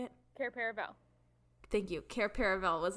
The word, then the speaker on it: Cair Paravel: Cair Paravel.